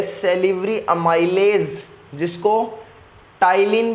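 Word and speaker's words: ptyalin: है salivary amylase, जिसको टाइलिन भी बोला जाता है, कोई पटाइलिन मत बोल देना भाई, टाइलिन है, पी साइलेंट है।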